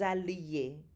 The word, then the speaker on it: alliez: Listen to the pronunciation. Que nous allions, que vous alliez. Did you hear the strong L sound? So those double L's there do not sound like a Y.